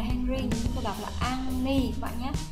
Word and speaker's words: 앙리: Cái tên của anh là Henry, chúng ta đọc là Anni các bạn nhé.